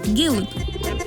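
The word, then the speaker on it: гълъб: А читается он на самом деле как что-то среднее между «ы» и «э». Вот, например, «гилып». А это «игл».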